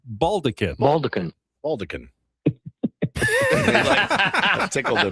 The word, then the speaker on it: baldachin: Baldecan. Baldecan. It looks like maybe baldachin, but it's pronounced baldecan.